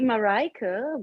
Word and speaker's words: Marika: your name again um it's actually marika but um yeah my father is from belgium so it's um it's a flemish name not nice yeah yeah